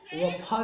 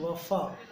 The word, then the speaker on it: वफ़ा: देखिए, फ फ फ फ वफा नहीं, वफा वफा।